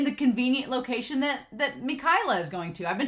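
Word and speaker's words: Mikaela: convenient location that that mikayla is going to i've been told it's supposed to be pronounced mikayla and not michaela so i'm going to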